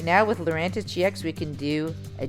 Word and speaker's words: Lurantis: fantis we already have lurantis which rhymes with fantis so why don't we